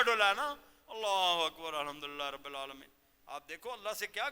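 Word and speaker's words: الحمد لله رب العالمين: آپ کہتے ہو الحمدللہ رب العالمین. اگر اس انداز میں پڑھتے ہو تو وہ ہے 2 آنکھوں والی بنتی ہے, الحمدللہ رب العالمین. صحیح تلفظ یہ ہوگا الحمدللہ رب العالمین, وہ ہا حلق سے نکلے.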